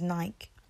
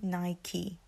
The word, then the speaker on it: Nike: people from London from England say Nike we pronounce it as Nike but it's actually Nike Nike Nike Nike so the next one is